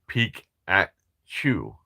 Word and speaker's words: Peekatchu: Our Pika is spelled Peekatchu. Like peek at chew.